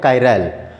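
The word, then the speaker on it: chiral: तो जो कायरैल है KYRAL, इस तरह से इसका प्रोनाउंसिएशन है कायरैल, और ये चेयर वर्ड से बना हुआ है जिसका मीनिंग होता है ग्रीक में हैंड।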